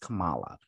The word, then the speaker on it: Kamala: it's i can't remember he like camilla and she's like by the way it's pronounced kamala he's like oh okay